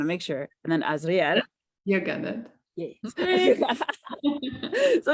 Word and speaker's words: Azriel: So, Yulia Hunita, is that how you pronounce it? Yes. I want to make sure. And then Azriel.